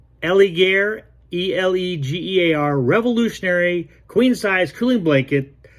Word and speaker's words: Elegear: talk to you about the and i'll probably pronounce this wrong ellie gear e-l-e-g-e-a-r revolutionary queen-size cooling blanket that absorbs body